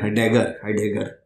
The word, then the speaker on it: Heidegger: Because immortality is what ठीक तरह pronounce करने में बड़ी मेहनत होती है उस नाम में, हाइडेगर, बट हम लोग बोलते हैं हाइडेगर, वो ठीक है, हाइडेगर ही ठीक है, अपना साडा प्रोनाउंसिएशन भी ठीक है.